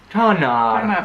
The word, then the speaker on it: tanár: But the hardest thing is, like, we know that an A with a dash is a long sound. But a hard thing in Hungarian is that you stress the first syllable. Tanár.